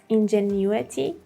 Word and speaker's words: ingenuity: The British pronunciation is ingenuity, ingenuity. So new is more stressed here, ingenuity. And in American pronunciation, you would hear ingenuity, ingenuity. For both of them, you should say the new or new part stronger.